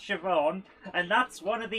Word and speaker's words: Siobhan: it was actually pronounced siobhan and that's one of the easy ones yeah um irish people's names are basically spelt not like how they're pronounced i mean like really